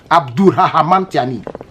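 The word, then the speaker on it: Abdourahamane: ça bienou Abd Rahman c'est pas Abou c'est Abd Abd Abd rah Abd Rahman a procédé à la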